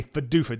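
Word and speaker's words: PDUFA: more information that is what a fedufa date is and it is spelled p-d-u-f-a if you did not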